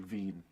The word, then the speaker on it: Wien: Veen. His or W-I-E-N? I think it's EIN. E-I-N, I don't know. Wien. However those, what are those Wien? Europeans doing? Wien. dang Ween. Well, but it's like Veen.